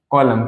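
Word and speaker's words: column: हिंदी में ठीक है समझ में आई बात कॉलम कॉलम के बाद नेक्स्ट हमारा आता है जैसे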